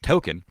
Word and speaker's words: Tolkien: It's just pronounced Token.